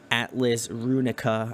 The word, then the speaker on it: Atlas Runica: And you have an album coming out called Atlas Runica. I'm pretty sure my pronunciation is correct on that. Yeah, nailed it.